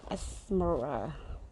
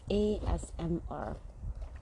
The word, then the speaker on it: ASMR: It's like Esmera. Esmera? Okay, it's ASMR.